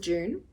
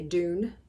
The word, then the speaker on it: Dune: I'm still going on with June as we call it in Australia I know Americans say Dune I might just say Dune that probably sounds better to you than June I think audiobook definitely